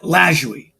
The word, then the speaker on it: Lajoie: Nap Lajoie. Now, I'm very proud. I can actually pronounce that.